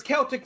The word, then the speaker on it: Celtic: It's Celtic Ray Film Works. Yeah. It's a hard C.